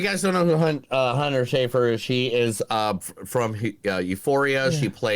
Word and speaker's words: Schaefer: And Hunter, oh man, I don't know how to pronounce her last name correctly. Yeah. Schaefer Brown? Hunter Schaefer? Is it Schaefer? Yeah, Schaefer.